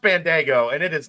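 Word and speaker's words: Bandaogo: is the refs called it's not spelled like it's pronounced it's pronounced Bandago and it is not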